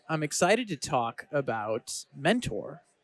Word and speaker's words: Mentore: I'm excited to talk about Mentor, as I believe it's pronounced, spelled like mentor, but with an E at the end.